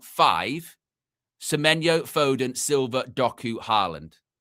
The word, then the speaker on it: Haaland: You look at that front five, Semenyo, Foden, Silva, Doku, Haaland. Elaine, is that how you say it?